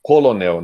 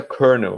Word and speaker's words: colonel: que tá Ina S eu leria isso daí colonel né na coluna tá escrito aí colonel Mas aí seria um erro de regularização né então a pronúncia certa corno o cão sequer sabe